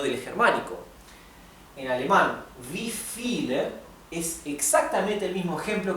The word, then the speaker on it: viele: Recuerden que la V corta o la V en alemán, cuando viene seguida por una vocal, se pronuncia igual que una F. Nuevamente, la V del alemán seguida de vocal, generalmente se pronuncia como una F.